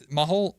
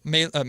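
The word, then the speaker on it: Mahle: Same with Tyler Maul Mah, how do you pronounce it? Mah Mey, excuse me, I should know that.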